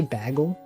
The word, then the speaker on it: bagel: that sometimes they say bagle he says um what El that yeah bagle do you know that that's the way that some Canadians pronounce Bagel bag um he